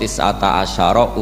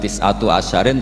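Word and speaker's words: تسعة عشر: tetep ing atase neroko tisata asyaro utawi 19 tetap bacanya bukan tisatu asyarin tapi tisata asyar jadi kita tahu secara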